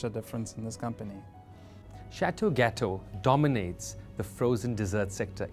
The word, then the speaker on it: Chateau Gateaux: difference in this company Chateau gateau dominates the frozen dessert sector in southern Africa what makes a Chateau gateau delicacy so special it's actually Chateau gateau pronouncing French but I'll let you